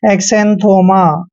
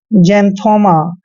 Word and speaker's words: xanthoma: दोस्तों जब भी एक्स के बाद ए आता है या फिर ई आता है तो एक्स का उच्चारण हमेशा जय करते हैं। तो एक्स को हमने जय पढ़ना है, ये ध्यान रखिए।